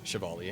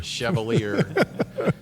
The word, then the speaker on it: Chevalier: So my last name is, and his last name is Chevalier. Yep. He's from New York. He's a Yankee, but they say We won't judge you. Chevalier, but the proper pronunciation is Chevalier.